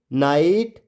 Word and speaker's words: night: तो आपको पता है GHT में आया GH हमेशा साइलेंट होता है।